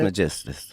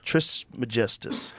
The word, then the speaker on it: Trismegistus: Trismegistus. Trismegistus.